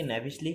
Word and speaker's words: knavishly: Next হচ্ছে কি ন্যাভিসলি, কে এর উচ্চারণটা এখানে সাইলেন্ট, NAVISHLY, KNAVISHLY, ন্যাভিসলি।